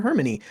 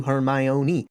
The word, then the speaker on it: Hermione: So I called her Hermony until we get to Goblet of Fire where she breaks down the pronunciations to Hermione.